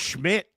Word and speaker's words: Schmidt: I mean, it's pronounced Schmidt, but I guess you can call him whatever you want.